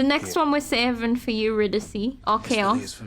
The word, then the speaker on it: Eurydice: Oh, Eurydice is how you say her name, not Eurydice. Where's she at? Eurydice.